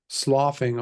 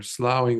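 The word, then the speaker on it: slough: There's a term in English called um um sloing off or slowing off or sometimes I've heard it being pronounced as sloowing off.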